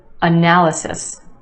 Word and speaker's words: analysis: this one analysis analysis four syllables in this word with emphasis on the second syllable the a sound analysis and yes there are two schwas in this word the first syllable and the third analysis analysis do you hear it all right so